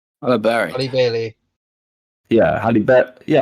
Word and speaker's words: Halle Bailey: Halle Bailey. Yeah, Halle Bailey. Yeah, I always thought it was Harry Bailey.